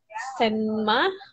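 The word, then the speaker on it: 什么: Jadi bacaannya itu tulisannya itu SHENME ya. Senma.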